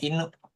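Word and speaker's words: 犬: Kanji Inu artinya, nah, dibacanya Inu, itu Inu.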